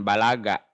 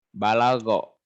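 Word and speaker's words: بلغ: bahasa Arab Balau ya dibacanya bukan balagak balagak mah jadi sombong artinya ya balago artinya sampai selagi balik menurut bahasa berasal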